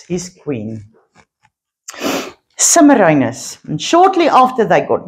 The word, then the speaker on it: Semiramis: So, he ruled Babylon and he took himself a wife with the name Semiramis, his queen. Semiramis.